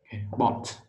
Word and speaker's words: bought: Thêm một cái dấu hai chấm đây tức là âm o dài.